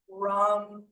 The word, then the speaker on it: Ram: Rum. It's rum. So they're all pronounced. They're all pronounced with the U.